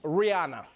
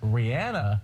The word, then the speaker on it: Rihanna: all right moving on to some other news Rihanna she's recently made news for her successful fashion